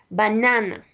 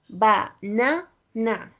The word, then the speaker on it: banana: second E sorry the second example that is banana. So when you pronounce it it sounds like banana.